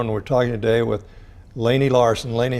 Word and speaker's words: Laney: I'm Layne and we're talking today with Laney Larson Delaney how are you yes I pronounced your name right you got it yeah